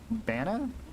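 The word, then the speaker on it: banaan: banana and Dutch and it's pronounced like banana uh but without the sound at the end so it's like Banna right banana yeah something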